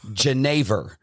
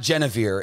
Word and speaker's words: genever: Genever. It's not Genevieve, it's Genever. Genever. It's a type, it's gin, essentially.